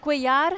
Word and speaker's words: Couillard: Couillard.